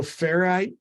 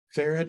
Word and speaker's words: Ferrite: as editing you know ferrite that I talked about are fair ferrite ferret I think's the correct pronunciation of that um you